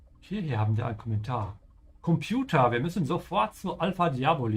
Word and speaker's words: Computer: This is one of those words where it's okay to pronounce it in English because a lot of Germans do that. It's borrowed from English. So even though technically it's also correct to say Computer, you will find a